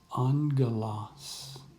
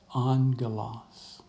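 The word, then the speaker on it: ἄγγελος: And when a gamma comes together, it makes an NG sound. Angelos, angelos. Okay? Note again our breathing mark and our accent mark. So that means that the smooth breathing mark, this doesn't change the pronunciation in any way. The accent mark tells us that this syllable, the first syllable, is the one that will receive the stress when we pronounce it, angelos.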